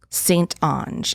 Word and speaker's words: St.Onge: St.Onge.